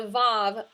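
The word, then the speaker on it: ו: It's a vav, often with a little simple shava below it. V is how we would pronounce that.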